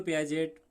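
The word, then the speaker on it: Piaget: इसमें ये याद रखना है कि जब भी आप ये पियाजे ऐसे कहना है, मतलब टी इसमें साइलेंट रहेगा, तो टी हटाकर कहना है कि पियाजे। तो पियाजे इस तरह से आप कह सकते हैं, टी उसमें से हटा देना है।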